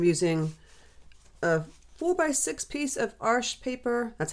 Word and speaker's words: Arches: Um, I'm using a 4x6 piece of arch paper. That's how you say it. Arch. It's spelled A R C H E S, not Arches. And the French term, it's arch.